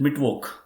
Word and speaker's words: Mittwoch: I request everybody to please pronounce it Mittwoch.